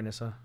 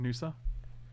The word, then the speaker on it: Nissa: Please attack our Nissa. It's pronounced Nusa.